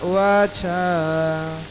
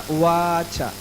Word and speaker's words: उवाच: That why actually even in Hindi also it is mentioned that what we call, yes, Arjuna Uvacha, not Uvacha.